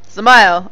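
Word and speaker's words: Dzemael: Zamayo. I'm going to remember how to pronounce this properly. Zamayo. I'm going to forget this. Zamayo. So you forget the D, and it's Ma-L.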